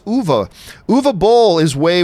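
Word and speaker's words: Uwe: a bowl I mean a lot of people pronounce you eat which I always did was I found it's actually pronounced ovo move a bowl is way worse Paul at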